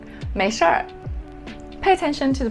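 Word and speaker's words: 没事儿: Alright, the next one, 没事儿. 没事儿. Pay attention to the pronunciation of this phrase. You have to add er at the end of the two characters.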